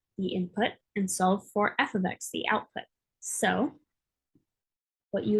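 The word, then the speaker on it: f(x): place that y normally is and this is pronounced f of x um so when you see y in an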